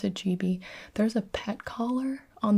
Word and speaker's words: Gibi: the gibes now we can stop the the and the gibes and the it's not a big deal it